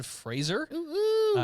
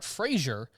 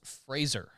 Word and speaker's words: Fraser: stars Oscar winner Brandon Fraser which I learned is how you pronounce his name it's not Frasier it's Fraser Fraser really makes sense yeah there's no I there Fraser Fraser he he